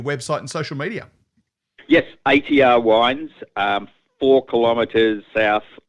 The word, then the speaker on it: ATR: it because it is a t r wines we had a few heads yeah not art wines which is it quite often gets that but it's atr yeah nice initials are my